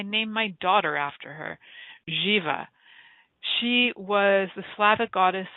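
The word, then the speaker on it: Živa: And Jiva, which is spelt the same way, pronounced slightly different, goddess of fertility.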